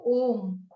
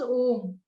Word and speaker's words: Om: came in the universe was Om, and it has like three syllables. So A represents the waking state or the beginning. U represents the dream state or the middle, and M states the deep sleep state or the end in the causal transcendental region.